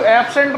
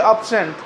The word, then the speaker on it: absent: इसको एब्सेंट मत बोलिए, इसको बोलिए अब्सेंट, ABSENT, अब्सेंट। एब्सेंट बोल, अगर आप एब्सेंट बोलते हैं तो गलत बोलते हैं, इसके प्रोनाउंसिएशन को आप ठीक कीजिए।